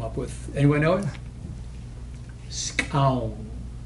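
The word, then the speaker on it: skxawng: Skown. It's spelled S-K-X-A-W-N-G.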